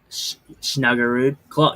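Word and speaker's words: Snuggerud: off the third line with Shen and and Snugarude. Did I say it right? Snugarude.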